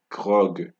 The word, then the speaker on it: grog: For G, the exception we have is grog. Grog, right? Grog. That's the exception for G.